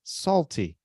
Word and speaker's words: salty: Mas sendo que a sílaba tônica é a primeira, isso que complica. Nós temos que caprichar o Y na palavra sem fazer do som de I ou Y a sílaba tônica. Então, a nossa brincadeira é salty, para lembrar do Y, mas na verdade é salty.